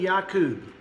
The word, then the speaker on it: Jacob: go on ISU and yakub euu and yakub or Jacob and Esau pronounced ISU and yaku now Yak was 40